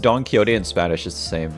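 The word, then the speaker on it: Don Quixote: My My friends pronounce Don Kyote as Don Quicks. It's actually pronounced Don Kyote.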